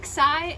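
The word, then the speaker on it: ξι: that's a little better so xi it makes the sound of k and s together pi p so this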